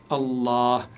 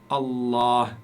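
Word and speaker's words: الله: donc cela signifie que vous devez prononcer le LaM la lettre L ici vous devez la prononcer longuement comme si vous comme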